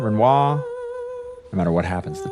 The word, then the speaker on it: Renoir: Renoir. That's right. You don't pronounce the arm.